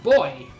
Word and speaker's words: buoy: say all but certainly in british english and in south african english where i grew up b-u-o-y is pronounced boy it shouldn't be too surprising because b-u-o-y-a-n-t is pronounced buoyant do good stream thing